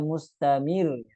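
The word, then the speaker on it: مستمر: W dengan meniadakan tasdidnya Harusnya mustamir bukan mustamirir kalau seperti ituaknya harusnya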